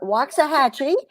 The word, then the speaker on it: Waxahachie: Well, it's not really mine, but I'm here temporarily, and it's Waxahachie, and I raise my boys on Cape Cod,